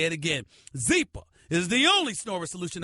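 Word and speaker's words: Zyppah: Zeepa is pronounced Zeepa. It's spelled Z-Y-P-P-A-H. It's easy to remember because Zeepa is happy Z spelled backwards.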